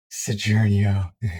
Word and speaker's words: Saguaro: As pronounced Sojournio.